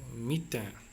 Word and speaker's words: mitaine: Okay, so mitaine. The pronunciation is mitaine. M I T A I N E. Mitaine, that's the spelling.